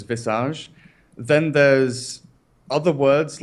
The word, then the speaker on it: visage: Like visage is the English pronunciation of it, but the French pronunciation is visage.